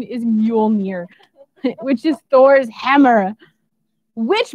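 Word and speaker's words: Mjölnir: movies meow does make sense but the correct pronunciation is mule mir which is thor's hammer which by the way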